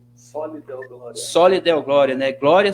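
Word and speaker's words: Soli Deo Gloria: Como que se pronuncia mesmo, Marcos? Como é que é? Soli Deo Glória.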